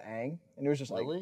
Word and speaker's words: Aang: they pronounced his name as Ong the entire movie instead of Aang.